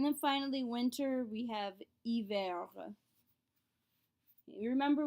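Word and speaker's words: hiver: finally winter we have iver you remember we do not say h's at the beginnings of words so it's not he ver it's remember as well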